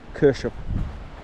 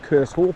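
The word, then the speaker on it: Kershope: It's Kershop, K-E-R-S-H-O-P-E, Kershop. I always pronounce it Curse Hope, obviously, but a Scottish subscriber says it's pronounced Kershop. So it sounds like ketchup, Kershop.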